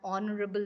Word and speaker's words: honorable: like you know an honorable man so H is silent here you're using and for